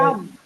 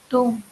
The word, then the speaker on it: tomb: டாம். Tomb, sir. Tomb.